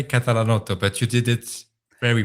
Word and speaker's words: Catalanotto: It's Catalanotto, but you did it very well.